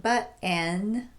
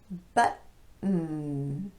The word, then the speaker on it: button: Button, not button, but button.